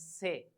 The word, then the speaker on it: ce: word with B next C say the pronunciation is say and the word with